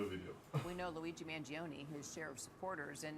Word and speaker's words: Mangione: Mario Mangiani. Yes, bro. Mangione. Mangione. How about you say his name? Luigi Mangione.